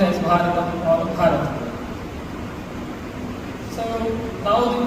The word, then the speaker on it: Bharatam: The connection that we feel comes through the name, which is correctly pronounced as Bharatam or Bharat.